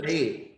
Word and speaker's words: ballet: Ballet. Then T අකුරක් තිබ්බට T is a silent letter. We pronounce this word as ballet.